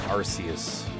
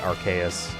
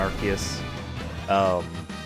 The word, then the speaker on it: Arceus: And I didn't play Legends Arceus. I'm not pronouncing it Arceus. I don't care if the British would find it funny to pronounce it how it's spelled, Arceus. Put a K if you want Arceus.